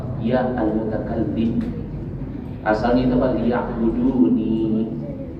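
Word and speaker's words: ليعبدون: Liya'buduni. Dihilangkan ya mutakallim, dicukupkan dengan harokat kasrah. Jadi dibacanya liya'budun.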